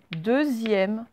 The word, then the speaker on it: deuxième: Le X, là, en fait, il se prononce comment? Ben, il se prononce Z, deuxième.